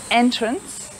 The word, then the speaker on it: entrance: the end so entrance so the e at the end is pretty much silent so entrance so remember spelling and